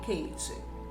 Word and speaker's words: Caté: Ela é parecida com a que me foi passada por minha tia Caté. Pronuncia-se Kate, que vivia em Sibrak, perto de Dombovar, na Hungria.